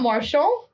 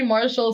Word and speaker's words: Martial: It's Anthony Martial. That's not Marshall. It's Anthony Martial. That's how I... Anyways, whatever. I'll apologize next week. It's okay. Anthony Martial scores in the 75th minute.